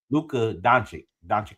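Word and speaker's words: Luka Dončić: If we don't get Austin Reeves and Luke, I always say his name wrong. Lukic, Luca. Luka Doncic Luka.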